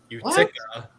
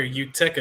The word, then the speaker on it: Utica: So, phonetically above for you. That's how you say. Utica. That's what he said earlier. Utica.